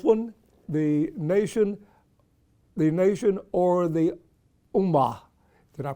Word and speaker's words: Ummah: This one, The Nation or the Ummah. Did I pronounce that right?